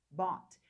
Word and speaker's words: bought: Você acabou de falar a pronúncia perfeita de comprei em inglês. Então, pensando nisso que eu falei para vocês, digam lá. Bot, bought.